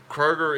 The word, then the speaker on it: Kroger: in the world I love Kate Rogers it's pronounced Kroger by the way guys Kaye Rogers my funny